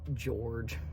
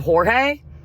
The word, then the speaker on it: Jorge: Then you call him George instead of Jorge.